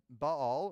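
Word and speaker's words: Baal: invites ahaz to worship ball or b-a-a-l in in English translation otherwise pronounced ball or ball and also the goddess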